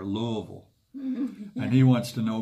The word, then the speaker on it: Louisville: Kevin is from Louisville that's how they say it there Louisville and he wants to